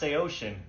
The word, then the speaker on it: Saosin: Yo, I hate to ruin everyone's night, but this band's name is pronounced Saosin, and I have proof.